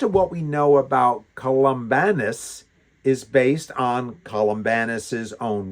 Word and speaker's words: Columbanus: the same time, and this is Saint uh Columbanus. So, it's Columba, c o l u m b a, and then n u s at the end of it. So, Columbanus, that's how I'm going to pronounce it, was born 543 in the kingdom